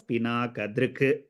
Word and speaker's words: पिनाकदृक्: पिनाकदृक् ददौ तस्यै पिनाकदृक् So since the last akshara underneath the ka you have a halantam, it is to be pronounced as pinakadrik like that.